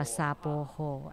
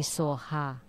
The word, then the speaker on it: Soha: Actually, the mantra should be Soha. 沙波呵就是所哈， Sapoho is 所哈 Soha. 是正确的。 Soha is Sanskrit and it's the right pronunciation, and Sapoho is not.